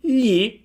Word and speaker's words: gli: Li uses a normal "l", gli uses a "gl". What is the difference? Well, the position of the tongue is very similar, however the "l" sound is a little softer, the "gl" sound is a little harder. Simply when you pronounce "gl" try to pronounce an "l" but you have to scratch your palate with your tongue more,.